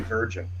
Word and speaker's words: Vergin: and a lot of people mispronounce my last name and I'm gonna clarify that because my last name is actually virgin which might uh clarify